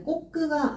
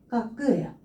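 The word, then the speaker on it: 覚: 그래서 요거는 똑같은 각이긴 한데 꼬끄가 아니라 까끄예요. 까끄라고 읽어주시면 되겠습니다.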